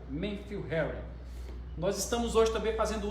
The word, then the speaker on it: Matthew Henry: livro de Matthew Henry, ou pronúncia correta, Matthew Henry.